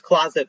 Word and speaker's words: Qloset: Okay, there's closet clothing swap, but the fun part is that closet is spelled Qloset. So it's closet, but the C is a Q, which is very fancy.